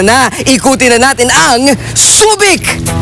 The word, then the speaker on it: Subic: may kinalaman sa pagsasaka sinasabing sa pagdating ni Juan de Salcedo na pagkakamali niya ang pagbigkas ng huik at ang nasasabi niya ay subik sa pagdating naman ng mga Amerikano naging subig ang pagbigkas dito hindi kalaunan nabalik sa subik ang tawag sa lugar bago